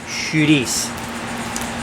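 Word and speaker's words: chouriço: are I see oh it looks like curry Co but it's pronounced shooties quiet do you want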